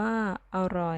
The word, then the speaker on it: อร่อย: อ่าน ว่า จะ โหลด มี อร่อย อ่าน ว่า อร่อย ปลัด อ่าน ว่า ปลัด ดู ข่าว วัน นี้